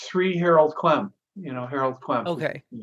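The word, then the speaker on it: Harold Klemp: And could you pronounce this teacher's name again, please? It's Sri Harold Clem.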